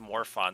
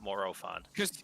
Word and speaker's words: Morophon: go that's why i always thought it was more fun not morophone he also makes this these less yeah and